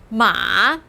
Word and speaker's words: 马: And sure enough, the radical is the character 马. The same syllable 马 as 妈, just a different tone.